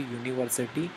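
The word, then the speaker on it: university: लेकिन ऐसा नहीं है जब हम इसका प्रोनाउंसिएशन करेंगे तो ये यूनिवर्सिटी निकलेगा इसलिए यहां पर ए बिल्कुल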